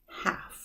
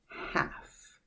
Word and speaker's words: half: word half half no but L is silent half half and looking at that